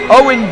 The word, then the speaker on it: Eoin: That is not how you spell the name, but that's how I'm going to be referring to him tonight, because it's spelled Eoin, but you'll hear me address him as Owen Dillon here tonight.